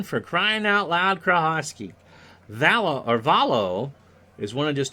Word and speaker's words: Valo: Valo, rhymes with Rollo, at 350, 2 homers and 21 RBI.